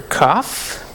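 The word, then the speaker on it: כף: We're going to have letter kaf. It's just a little, like a backwards C. Maybe that could help you remember the pronunciation of it because it's a K sound, like K, like a hard C.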